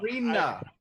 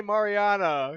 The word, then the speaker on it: Marina: Marina. I always want to say Mariana.